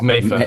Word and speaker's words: Mattha: M It's Mather Mather, Busby. Mather, Mather, Cheers.